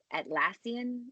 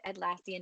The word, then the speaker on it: Atlassian: I watched a TED Talk from the guy, one of the developers of Atlassian. Is that how you say it? It's like Australian.